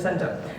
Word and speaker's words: cento: So I think it's actually kento. I think that's how we should be pronouncing it. Anyway, um we will do the Americanized version of Sento.